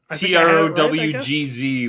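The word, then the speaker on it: Tröegs: Trowgz was the pronunciation.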